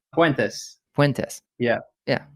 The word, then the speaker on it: Puentes: gotten your last name correct so I'm avoiding pronouncing it but how do you say your last name went this cuentas yeah yeah it's got a good ring I